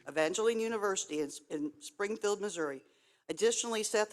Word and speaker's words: Evangel University: Evangel University. Evangeline University in Springfield, Missouri.